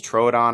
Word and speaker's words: Troodon: Because I said Troodon for so long, and apparently it's Troodon, or maybe it's the other way around.